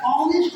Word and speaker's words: honest: ऑनेस्ट आदमी जो कहते हैं ऑनेस्ट जब लिखते हैं